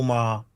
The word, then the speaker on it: Maher: And you pronounce Bill Maher like Ma.